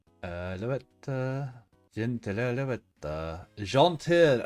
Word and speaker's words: gentil: Alouette, gentle alouette, gentil alouette, to say it properly. But it's spelled gentile.